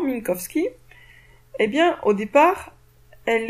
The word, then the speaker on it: Minkowski: relayée par min kovski je pense que là je l'ai prononcé correctement Minkowski et bien au départ